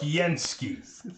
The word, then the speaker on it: Skiensky: It's pronounced What? Skiensky. That's how it's spelled. Sorry. Said like it's spelled.